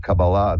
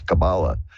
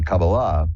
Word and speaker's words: Kabbalah: This is the whole thing about Kabbalah, the study of that, and. I pronounce it that way purposefully, because the more dilettante version is Kabbalah. But the Kabbalah, which is the more religious version, the whole goal there